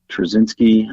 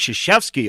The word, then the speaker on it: Krzyzewski: I always say his last name wrong. Trzynski. I always say his name. Is he the coach from Duke? Yes. It's Mike Krzyzewski.